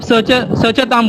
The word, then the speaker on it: सचतां: यहाँ पे वनस्पतिम के बाद जो त है वो है वो हाफ त है ना, उसका उच्चारण इतना साइलेंट है कि वो आपको ही सिर्फ सुनाई देगा। चांट करने वाला दूसरे चांट करने को सुनाई नहीं दे सकता है।